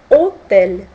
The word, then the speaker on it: hôtel: Histoire, heureux, bohème, hôtel. Видите, H есть, но оно не произносится.